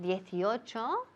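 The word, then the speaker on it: eighteen: El contrario cuando decimos 18, que es 18. 18, que recae on teen, la parte cuando dices teen.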